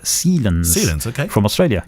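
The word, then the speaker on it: Cielens: But it's from Nanto Sealens, spelt C-I-E-L-E-N-S. Sealens. He's given us the pronunciation next to it. Sealens.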